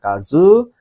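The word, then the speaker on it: 数: Kalau berdiri sendiri baca kazu. Kalau dia ada temannya seperti sugaku ini ya matematika artinya sugaku matematika atau kalau jadi kata kerja kazoer menghitung artinya gitu ya.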